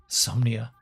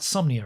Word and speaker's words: Somnia: in the deepness of insomnia somnia I'm saying it right somnia right it's spelled somnia look it's spelled somnia yeah the dream computer somnia so not insomnia but somnia okay well I'm not